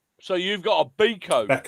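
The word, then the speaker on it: Beko: The brand name rhymes with Leo." Yeah. I've decided it's already uh more useful than Leo that plays for us. Yeah. So, you've got a Beco Beco.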